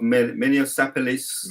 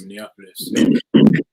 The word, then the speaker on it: Minneapolis: We just heard um the mayor of Minosapapolis. Minneapolis.